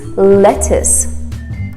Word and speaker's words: lettuce: favorite greens lettuce lettuce we don't say lettuce or lettuce it's lettuce if you want to have